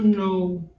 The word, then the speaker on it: know: Knew, ele é o passado do verbo to know. Lembra que esse K, eu nunca falo ele, é mudo.